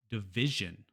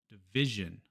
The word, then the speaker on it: division: But in English, it's always the syllable before the ion. So we have action, action, division, division, constitution.